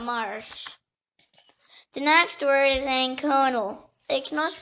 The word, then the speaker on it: anconal: The next word is anconal. It can also pronounce anconial.